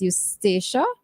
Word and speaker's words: Eustacia: So we are we are going to conduct an interview at this time with Miss Eustacia. Yes, Eustacia. Eustacia. I wasn't sure if I pronounced it correctly.